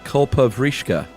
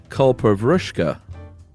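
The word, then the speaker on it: kalpavriksha: the coconut when you guys talked about the culprishka. First of all, it's not pronounced that way. Uh it is pronounced kulpavushka.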